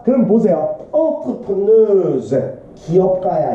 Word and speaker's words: entrepreneur: entrepreneurs 기업가야. 이 단어 알아도 entrepreneurs야. 발음 이렇게 해줘야 돼요. 궁금하면 진짜 쳐봐 네이버에. 발음 이렇게 나와요. 불어에서 온 발음이에요. entrepreneur예요. 기업가들은 succeed 성공을 합니다.